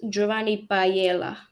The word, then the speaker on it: Giovanni Paiela: is it pa uh you you pronounce it Jaan Pella okay Jan P okay